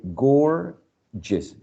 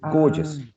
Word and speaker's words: gorgeous: The first word has the same consonant, but it's pronounced differently. The first one is g, and the second one is j. So you say gorgeous, gorgeous.